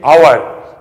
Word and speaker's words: hour: hour, you are saying hour. This is hour, this is air, and this is honest. So you are pronouncing it with the vowel sound, not the consonant sound.